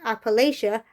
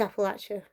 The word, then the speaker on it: Appalachia: If you say Appalachia, I'll throw an Appalache. So it's Appalachia.